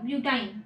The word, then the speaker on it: ब्यूटाइन: Alkene है तो last में मतलब हम जब नाम लेंगे तो उच्चारण में लास्ट में क्या आना चाहिए, इन आना चाहिए, और इसमें क्या आना चाहिए, आइन आना चाहिए।